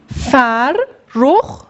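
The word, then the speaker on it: فرخ: Fer ruh. Ferruh. İki tane R var. O yüzden R üzerine teşdit koyuyoruz.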